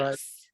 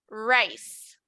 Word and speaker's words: rice: Rice. Rice. Right. Right. Very good. Now, something important when it comes to pronunciation, la R en el inglés no es como la R de nosotros.